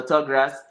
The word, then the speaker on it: Tuggras: I spell it with a Jamaican pronunciation as well, because we don't say Thug. with a TH. You We know, say tug. it's Yeah. a tug. You know, so Tuggras.